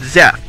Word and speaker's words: Zeth: joining in I'm Lord zeth Lord Seth's evil twin from an alternate universe it's spelled with a z not an S see